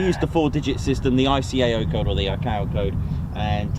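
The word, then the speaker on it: ICAO: Echo golf Yankee mik which is the iao code I was told that's how pronounce it I just been saying IO code but um iao code or something um there we go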